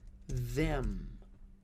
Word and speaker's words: them: A gente usa a palavrinha them. Them. E a palavrinha them, na pronúncia, pode ser reduzida a M, apóstrofo E-M, M.